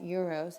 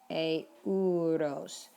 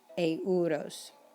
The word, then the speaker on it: euros: And it's not pronounced euros, it's euros. Every vowel is pronounced in Spanish, euros.